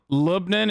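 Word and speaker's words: لبنان: made in greek to lebanon libnan is actually close to the arabic pronunciation australians in the chat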